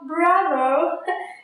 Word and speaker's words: bravo: I don't mean to let you down with this video, but the correct pronunciation of bravo is bravo, bravo.